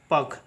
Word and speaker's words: puck: उसी प्रकार से नेक्स्ट देखिएगा PUCK है तो इसका उच्चारण होगा पक, इसका उच्चारण होता है पक, ठीक है।